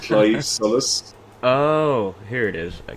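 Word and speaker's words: Claimh Solais: my heart so um everyone calls it the claim claim uh solay I don't know if you if you've seen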